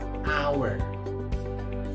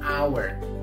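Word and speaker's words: hour: is for now yes our our not our no our back our silent H what about next is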